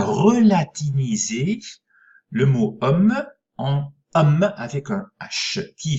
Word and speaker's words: homme: écrit homme sans âge puisque on ne prononcer plus ce h alors comment est-ce qu'on